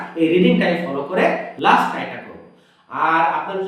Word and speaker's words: ك: ওকে, দদ জের দুই, এই যে জিহ্বার পাশ দিয়ে আমরা বলতেছি মোটা করে দুই। কাফ জের কি, জিহ্বার গোড়া থেকে একটু সামনে কি।